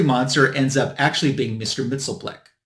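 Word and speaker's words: Mxyzptlk: actually being Mr mitel that's how I pronounce his name I know some people call him Mr mitel gosh that's not easy to say uh I call it Mr mitel because that's the way they pronounced him in the Super Friends cartoon when I was a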